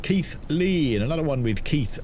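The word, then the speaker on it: Keighley: Pronounced Keith Lee.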